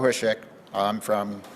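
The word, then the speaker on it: Hosek: Chairman and Senators, I'm Hushek. That's spelled H-O-S-E-C-K, and I'm from Great Falls.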